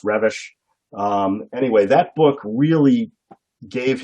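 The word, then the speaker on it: Reves: emery well it's pronounced looks like reeves but it's pronounced revish anyway that book really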